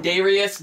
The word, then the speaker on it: Daijreous: Ladies and gentlemen, Hampton Roads, Allynn and Daijreous.